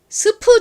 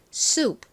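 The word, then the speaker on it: soup: 스프 이렇게 발음을 합니다 스프 그런데 미국에 가셔서 스프 주세요 이렇게 스프 스프 이렇게 하면은 미국 사람들이 못 알아들을 확률이 굉장히 높아요 스프 하지 않고 본토 영어 발음인 수 소 이렇게 발음을 해 주셔야 원활하게 원하시는 수프를 받으실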